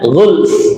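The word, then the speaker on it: غُلْفٌ: Nah, di sini agak sulit ya pengucapan dua huruf sukun. Yang satu sukun asli, yang satu fa ini sukunnya karena waqaf. Kurang lebihnya ghulf. Nah, ghulf. Nah, langsung fnya di disukun gitu ngih.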